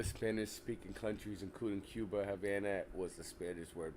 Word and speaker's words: Havana: speaking countries including Cuba Havana was a Spanish word pronounced Habana it was pronounced Habana because the V sounds like a B in Spanish you're right it was